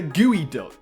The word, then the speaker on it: geoduck: Psyduck here we have the gooey duck which is spelled like it's geod duck so I might have